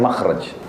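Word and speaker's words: مخرج: ya bahasa Arabnya itu mim Kha ra Jim bacanya makhraj Kenapa digunakan kalimat itu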